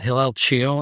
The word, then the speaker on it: Hillel Chiel: Well, I pronounce it Hillel Chiel, and I'm at Case Western Reserve University.